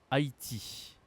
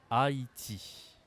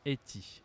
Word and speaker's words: Haïti: la prononciation est spéciale Haïti Haïti Haïti tu te demandes peut-être pourquoi on dit pas Hati et on dit Haïti et si tu veux